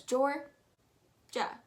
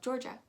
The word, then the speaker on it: Georgia: georgia georgia super easy just kind of pronounce it as jor ja you don't really need to pronounce it as that i a sound that is kind of silent so just go georgia underneath there we have